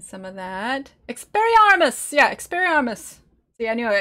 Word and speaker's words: Expelliarmus: Yeah, Expelliarmus. See, anyway, I feel like I'm missing an L. Like, I need to be pronouncing the L's a little bit more.